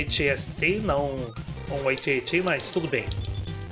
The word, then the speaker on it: AT-AT: Aqui não é AT-ST, não um AT-AT, mas tudo bem. Aparentemente, na verdade, se pronuncia AT-AT, o que simplesmente soa completamente idiota, mas tanto faz.